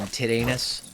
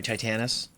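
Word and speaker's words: Titanus: and Dragon Zord and Tedanus or sorry Titanis. Um that's what my brother calls him. He calls him Tedanus because of the way it's spelled.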